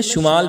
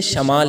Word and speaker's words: شمال: ایک ہوتا ہے شمال، ہم لوگ تلفظ میں شمال پڑھتے ہیں، شمال نہیں ہے بلکہ شمال ہے، شین کے اوپر زبر کے ساتھ۔ اور ایک ہے جنوب۔ تو شمال ہم کسے کہتے ہیں؟